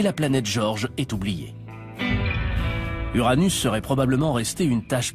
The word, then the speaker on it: Uranus: mauvais jeux de mots et je prononce uranus les gens pensent aux mots anus je prononce uranus ce qui est probablement très proche de la prononciation originale du nom du dieu dont elle tire son nom si vous trouvez qu'uranus